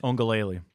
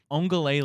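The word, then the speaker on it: Uiagalelei: Your wonderful pronunciation of DJ. How do you say it? Ongalele. Ongalele.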